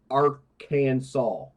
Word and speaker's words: Arkansas: by jail time okay Arkansas must be pronounced Aransas it is a law